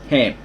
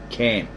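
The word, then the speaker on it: Kham: Ham, spelled K-H-A-M, but it's pronounced Ham. The K is silent. And they also have that word in their language, spelled the same and pronounced the same as Ham, not Cam.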